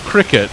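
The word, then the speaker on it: Cricut: you spell circuit and it's pronounced cricket it's it's that little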